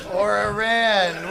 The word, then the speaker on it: Iran: IRAN, WHICH actually the other day I was talking about Iran and my friend, she was like, "It's actually pronounced Iran."